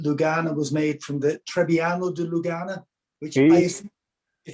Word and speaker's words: Trebbiano: most likely come from the local dialect accent to pronounce Trebbiano. So they would call it Turbian.